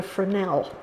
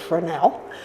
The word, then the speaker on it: fresnel: it's no longer useful it's called a fresnel and it's spelled the